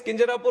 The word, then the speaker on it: Kinjarapu: And my name is Kinjarapu Ram Mohan Naidu.